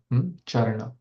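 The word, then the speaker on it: caraṇa: Charana, the C-A-R, the C is pronounced as Cha, Charana.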